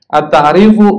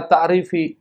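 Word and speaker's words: التعريفُ: At-ta'rifu, kenapa dibaca ta'rif? Karena dia mubtada, dia berada di awal. Jadi kalau berada di awal bacanya harus dhammah. At-ta'rifu, nggak boleh baca at-ta'rifi, apalagi at-ta'rifa. Harusnya baca at-ta'rifu.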